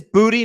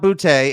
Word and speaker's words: Boutte: Okay, so it is Booty, not Boutte, and it's a hard G.